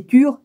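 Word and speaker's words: Ture: Ça s'écrit Om, O-M, plus loin Tar, T-A-R-E, plus loin Tutar, T-U-T-T-A-R-E, après c'est Tur, T-U-R-E, puis après c'est Soha, S-O-H-A, tout en majuscule.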